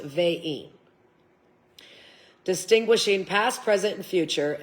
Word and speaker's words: Vine: It's spelt vine, but it's pronounced vein.